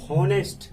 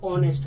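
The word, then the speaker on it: honest: ठीक है, ऑनेस्ट अगर मैं इसे हिंदी में प्रोनाउंस करता हूं तो ये हॉनेस्ट ना होकर ऑनेस्ट होता है, ओ ओ ऑनेस्ट।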